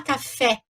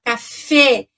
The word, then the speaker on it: café: Então, no acento agudo, no português, eu abro esse E, vai ficar E, né? Tá? E no francês vai fechar, vai ficar E, tá? Então, a palavra café em francês, café em português, né? Se escreve igualzinho em francês, mas a gente não fala café, a gente fala café, d'accord?